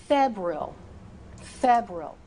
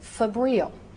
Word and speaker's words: febrile: So, febrile. Again, equally correct is febrile.